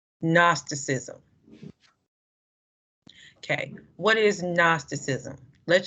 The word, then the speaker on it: Gnosticism: looking word isn't it don't pronounce the g gnosticism okay what is gnosticism